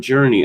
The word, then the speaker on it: Jurnee: And Journey, of course, is spelled Jurnee.